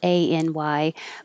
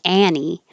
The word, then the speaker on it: any: And that's different than 29, which is spelled A-N-Y, but it's not Annie, it's any, anybody with E.